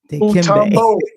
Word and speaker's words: Mutombo: I'm just gonna make sure I pronounce it right. Dikembe. Mutombo.